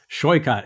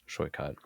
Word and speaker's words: Saikat: Yeah, it's shoikot. It's like boycott with the sh sound at the beginning. Shoykat.